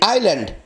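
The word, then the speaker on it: island: এস এর উচ্চারণ নেই, আইল্যান্ড।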